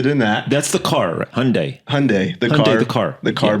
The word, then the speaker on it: Hyundai: at the shoot is Hyundai Hyundai Hyundai Hyundai cuz I kept saying hondai and they kept correcting me but Hyundai I had